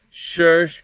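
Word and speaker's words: שורש: And me walking around here in sandals, shirsh, because that's how you pronounce sirs in Hebrew, meaning roots.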